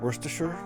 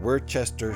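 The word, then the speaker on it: Worcester: We we actually usually you guys are the ones that save syllables, you know, like worsture where it's you read it and it's like worchester sh.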